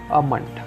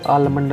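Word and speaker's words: almond: सबसे first word अमंड। अमंड, इसको आलमंड नहीं बोलते, काफ़ी लोग इसको आलमंड या आलमंड बोलते हैं। इसका एक्चुअल प्रोनाउंसिएशन अमंड है, अमंड।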